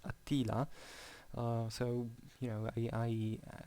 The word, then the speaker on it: Attila: my mother tongue i i used to read attila with the accent on the first a apparently in english it's attila so you know i